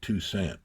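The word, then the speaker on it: Toussaint: Tusant tusaint he pronounced it two cent but that's um uh and so I moved there.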